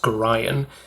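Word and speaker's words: Gorion: I've been told that it's pronounced Gorian. Abdel Adrian is a 5-mana 4/4.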